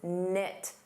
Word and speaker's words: knit: You can say they're close knit. Notice the K is silent.